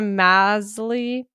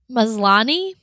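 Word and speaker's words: Maslany: Oh, I always say her last name wrong. Tatiana Masley. Maslani.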